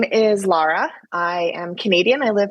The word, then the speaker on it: Lara: of your Canadian accent I thought you said Laura so now I don't know what to do you know what it's AOK by me I it's pronounced Lara I get Lara Laura it doesn't bother me